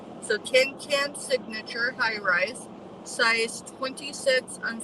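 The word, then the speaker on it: KanCan: The second one is a highrise Ken Ken Ken, but it's spelled K A N C A N. So Ken can signature high-rise size 26.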